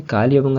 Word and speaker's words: कालीबंगन: तो इसे कालीबंगन या कालीबंगन ही प्रोनाउंस किया जाता है।